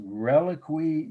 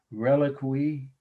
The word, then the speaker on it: reliquary: The last slide for tonight is Reliquary Guardian. I'll have to spell that for you. Reliquary, I've heard people say, but reliquary is how most people pronounce it.